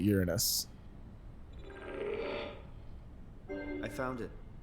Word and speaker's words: Uranus: Sagan he's uh he started out pronouncing it urine uh Uranus and kids would laugh because it sounded like urine I think he says that in Cosmos I think he calls it Uranus I found it it's